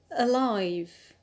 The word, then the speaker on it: alive: adjective is the adjective alive alive so here the stress is on the alt because we have applied the rule one a diphthong plus one consonant the diphthong is the